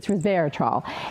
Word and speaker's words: resveratrol: It has something called, I'm going to hopefully pronounce it right, resveratrol. I think I got it right. I call it preservatrol because it preserves you, but it's resveratrol.